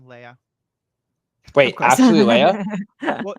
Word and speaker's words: Leia: actually, Leia? Well, spelled Leah. Okay, but it's pronounced Leia, not Leah.